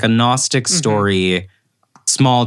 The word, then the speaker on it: Gnostic: Gnostic is sure oh is that Gnostic with is that with the silent G yeah it's the idea